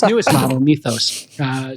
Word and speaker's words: Mythos: Listen, speaking of doing so, Anthropic is withholding its newest model, Methos. I'm using the Greek uh pronunciation, its newest model, Mythos, uh saying it is